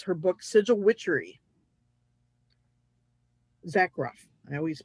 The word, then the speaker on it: Zakroff: She has amazing sigils that she's created, and that is Laura Tempest Zarkoff, and it's her book Sigil Witchery. Zakroff. I always mispronounce her name.